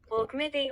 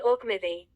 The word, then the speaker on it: Auchmithie: Pronunciation again correctly. Auchmithie, Auchmithie.